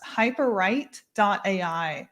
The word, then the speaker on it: Hyperwrite: Hyperwrite.ai. And it's spelled just like it sounds. So hyperwrite, like writing a book.ai.